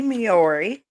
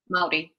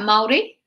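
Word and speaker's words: Māori: years ago by the miori i hope i'm saying that right mayori maori i'm sorry yeah maori marby so uh you kind of roll the r um so you the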